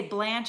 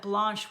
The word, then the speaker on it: Blanche: because so many people mispronounce my name and say Blanche instead of Blanche which drives me crazy like I'm not Blanche Blanche with launch not rhymes with ranch got it got it